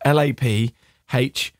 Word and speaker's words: Laphroaig: But we have a Laphroaig 10-year-old this week. Comes in a nice tin. Laphroaig is spelled LAPHROAIG.